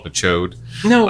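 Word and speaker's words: Ch'od: He's like giant amphibious, but his name is Chode, which I always pronounced it as Chad.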